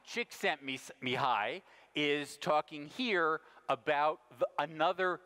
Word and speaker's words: Csikszentmihalyi: name and he said call me Mike me hi csikszentmihalyi is talking here about